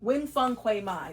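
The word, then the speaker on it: Nguyễn Phan Quế Mai: Wing Fung Quay Mai, that's how you say it.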